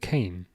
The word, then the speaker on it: Kane: Oh, is it Kane? Sorry, is that how you pronounce it? Kane. I'll remember that. I was like, is it Kian? I think I'm doing it wrong, but it's Kane.